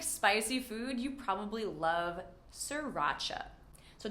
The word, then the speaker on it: sriracha: If you like spicy food, you probably love sriracha. So don't worry about pronouncing that first R, just say sir, like hello sir, racha. Sriracha.